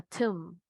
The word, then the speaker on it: tomb: También tenemos cuando la B no va a tener sonido. Está en la escritura, pero no va a tener su sonido. La palabra tumba o sepulcro, a tomb. Tomb.